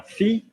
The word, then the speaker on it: fille: Now, famille is an irregular, same as the word daughter. Ma fille. You don't pronounce the L even though there is an E after the L.